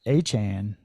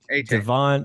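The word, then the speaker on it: Achane: Is Sakane I think Sakchain it's A-Chan. It's a A Chain. Devon Achan, I think is how you say Yep.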